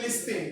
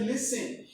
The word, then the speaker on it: listen: Look at words like listen. Listen has T at the middle, but you don't say listen, they say listen.